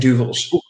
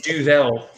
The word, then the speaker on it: Duvel: It's Duvel. I've always called it Duvel. It is Duvel. I pronounce it both ways.